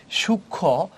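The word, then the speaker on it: সূক্ষ্ম: এই যে শুকনো যে ক্ষীয় টা আছে সাথে যে মফলা আছে এটা কিন্তু উচ্চারণ হয় নাই এখানে। সূক্ষ এটা হচ্ছে সূক্ষ। এখানে যুক্ত ব্যঞ্জনের সাথে মফলা থাকলে মফলা উচ্চারণ হবে না।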